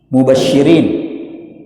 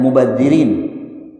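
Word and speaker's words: مبشرين: Sama juga di dalam surah Al-Baqarah mubasyirin ya. Ayat di surah Albaqarah ayat 25. Mubasyirin dibaca mubadirin. Nah itu beda artinya Pak. Mubasyirin artinya menggembirakan. Mubadirin artinya yang berlebih-lebihan. Wabasyirilladzina amamanu wa amilus shihat anna lahum jannatin tajri min tahtihal anhar.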